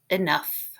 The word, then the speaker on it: enough: And at the end, we have GH making the f sound. Enough.